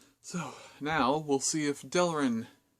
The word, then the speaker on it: Delrin: So, now we'll see if Delrin, not Delrin, one less syllable.